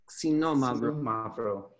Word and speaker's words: xinomavro: how to say xinomavro C no mother Mauro the X sounds like a KS s c no mother alright so all they